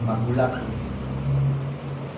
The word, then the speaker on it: maculatus: La palabra maculada viene de la palabra latina maculatus. Maculatus. Maculatus. ¿Ok?